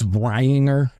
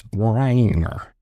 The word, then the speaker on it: Breininger: It's Brianger. Like I'm not going to mispronounce it. It's a tough one. So it's B R E I N I N G E R. It's Bryanger. So Robert Bryanger was born January 11th, 1969.